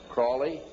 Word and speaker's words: Crowley: learned about was aliser Crawley he likes to be have his name pronounced Crowley to rhyme with holy and uh the satanists